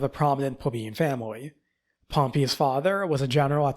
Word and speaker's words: Pompey: known is Pompey or Jay is probably going to pronounce it Pompeii yeah it's Pompey bro you were literally pronouncing his Pompeii two days ago did I I was